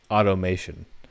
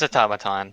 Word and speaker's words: automaton: oh oh Thomas automaton how do you pronounce that automation uh it's automaton it's automaton okay that was Alex